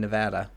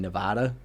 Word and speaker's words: Nevada: Um, and but yeah, it's uh like Oregon and Nevada out at least in the New England Northeast area, we usually call it Oregon and Nevada, but I was I was learned that it's Oregon and Nevada.